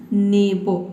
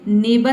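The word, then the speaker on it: neighbour: When यानी कि नस, नेबो, इसको क्या पढ़ेंगे, नेबर नहीं पढ़ना है आपको पढ़ना है नेबो। क्योंकि देखिए NEIGH ये हो गया आपका ने, और B को हम यहाँ पे केवल पढ़ेंगे बो।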